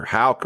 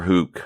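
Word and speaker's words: Houck: how you pronounce it it's either hauck or hook i'm going to say halc h-o-u-c-k and a.e hennings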